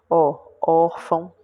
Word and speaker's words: órfão: Órfão, tá vendo? É a penúltima.